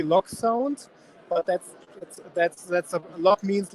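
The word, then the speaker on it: LokSound: Yes, the German pronunciation would be Loc sound, but that's a Loc means locomotive in German.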